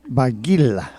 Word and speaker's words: Barguil: He wants the L on the end, Barguil. Barguil.